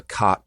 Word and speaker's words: cot: have what's called the Cot Caught Merger. And you can hear, by the way, I pronounce those words, that I do not have that merger because I say cot, C-O-T, and caught, C-A-U-G-H-T, differently.